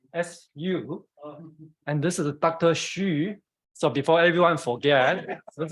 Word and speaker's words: Hsu: Hsu. So before everyone forget, this is, so Hsu in Taiwan it's H-S-U.